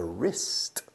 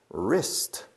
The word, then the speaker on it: wrist: interesting joint called a wrist wrist wrist wrist but it starts with a W the W is silent by the way and I can move